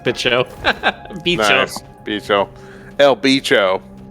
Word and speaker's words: bicho: I'm assuming it's pronounced like that and not bicho. That's how you say it in Texas.